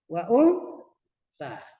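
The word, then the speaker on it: وأنثى: Wa untha. Jangan wa un ya. Jangan wa un tapi wa untha. Bacanya agak samar-samar karena itu adalah bacaan daripada bacaan ikhfa.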